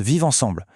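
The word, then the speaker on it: Viv Ansanm: En créole, ça se prononce Vive Ensemble, et ça veut dire vivre ensemble.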